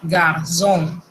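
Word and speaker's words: garçon: Cuando usted vea esto en una palabra, eso se pronuncia como una Z. Y déjenme decirle que esa Z es sonora. Por ejemplo, la palabra muchacho se dice garzón.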